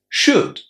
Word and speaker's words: should: Would, could, should. As you can hear, the letter L is silent just as in walk and talk.